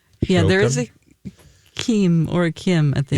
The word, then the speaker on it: Joaquim: in Portuguese, but Joaquim. Yeah, there is Joachim? a Kim or a Kim at the Yeah, end. Q-U-I-M. So Kim.